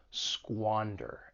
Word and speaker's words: squander: an opportunity for pronunciation the verb has two syllables the stress is on that first syllable squander and keep in mind that squa has that sound to squander something screw